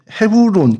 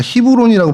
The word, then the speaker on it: 헤브론: 그래서 먼저이 곳 헤브론 그니까 히브론이라고 발음을 하더라고요.